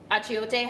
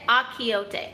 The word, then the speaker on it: achiote: So achiote has that bitterness, nigella has that bitterness, Fenugreek has that bitterness. Oh, how do you say it? Achiote.